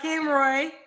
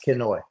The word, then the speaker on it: Kenoy: right so we got King Roy I'm saying it right right quit messing my name up Ki I know I keep adding R yeah you keep adding R it's kenoy you know I'm dyslexic